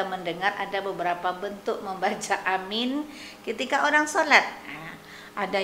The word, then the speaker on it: amin: Jadi ada tata cara membaca amin, jangan pendekkan a-nya, dipanjangkan min-nya, atau sebaliknya. Karena kita lihat tulisan daripada lafal amin, amin.